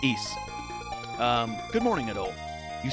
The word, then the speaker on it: Ys: if you have clear yeah it's pronounced East good morning at all